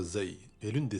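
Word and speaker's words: ز: La lettre Zay est l'une des 6 lettres qui ne s'attachent pas à la lettre suivante.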